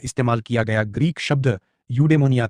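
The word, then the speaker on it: εὐδαιμονία: अरस्तु द्वारा इस्तेमाल किया गया ग्रीक शब्द यूडेमोनिया था।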